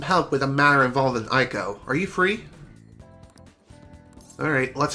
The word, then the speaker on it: Eiko: And also, it is pronounced Aiko. Or Aiko. Oh my god.